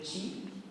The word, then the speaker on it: qi: dans la pensée chinoise, le qi, ça s'écrit QI, et le qi, en